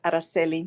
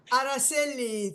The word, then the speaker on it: Araceli: Arcelli. I think the C is being pronounced as Che. Correct me if I'm wrong. Thank you so much. Yes, it's Araceli. Araceli, Yeah, thank you.